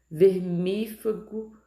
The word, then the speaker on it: vermífugo: Vermífugo, tá no mi, então é paroxítona.